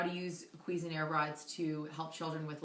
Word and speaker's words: Cuisenaire: teaching tools um especially for math which are quez and air rods. Um this is how it's spelled.